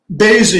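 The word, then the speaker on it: Boese: uh senator durbin mr bose am i pronouncing your name correctly daisy your honor it rhymes with crazy senator durbin pardon me mr baisy it rhymes with crazy and of course there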